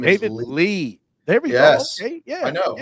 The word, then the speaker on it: Lea: Lee last name isid Lee there we go I know I know looks like Leah but pronounced like Lee I I should have